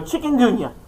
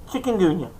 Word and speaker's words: Chikungunya: Chikungunya. I say it right. I practiced it this morning. Chikungunya.